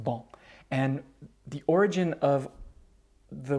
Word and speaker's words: banc: in french for a bench is ball b a n c pronounced ball and the origin of